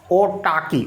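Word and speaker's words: autarky: सकते हो सिचुएशन, या ओटाकी। ओटाकी का मतलब होता है उसका मतलब वो सेल्फ डिपेंडेंट है किसी दूसरे कंट्री की, इस तरह ओटाकी। आर को साइलेंट किया जाता है आजकल तो ठीक है।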